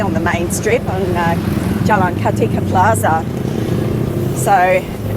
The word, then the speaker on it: Jalan Kartika Plaza: Sorry about my pronunciation. So, we are Jalan Kartika Plaza.